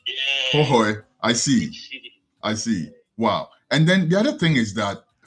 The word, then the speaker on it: Hohoe: The 2H in the Hohoe. So Hohoe is spelled like Hoehoe.